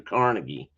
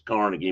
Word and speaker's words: Carnegie: least partially funded by Andrew Carnegie or Carnegi, I guess, depending on who you are and where you live. I always knew as Carnegie, but I've heard it pronounced CargI a lot.